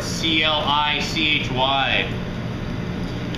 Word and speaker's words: Clichy: So this torte was originally called the Clichy torte, C-L-I-C-H-Y. That was the original maker of it, the original pastry chef. Clichy is how you pronounce it.